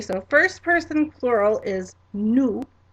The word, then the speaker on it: nous: But let's go through and pronounce our plural side here. Okay, so first person plural is nous, nous.